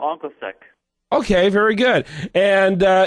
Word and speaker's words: OncoSec: 222 do on onos is that how we pronounce it there uh panit is it's it's called anos SEC okay very good and uh it is a